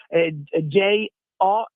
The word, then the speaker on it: Gio: Quindi Jo, scritto proprio come si pronuncia in italiano.